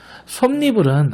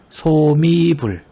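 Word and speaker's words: 솜이불: 맨잎도 맨잎이라고 읽는 것이 아니라 맨잎이라고 발음하고, 솜니불은 앞서서도 주의하자고 말했었죠. 소미불 이것이 아니라 솜니불, 한여름이 아니라 한여름, 백분율이 아닌 백분율.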